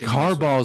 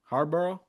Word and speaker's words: Harbaugh: I think Harbaugh is waiting on Buffalo. How'd I say his name? Harbbor. Yeah, you said it like Marboro. like a marble red.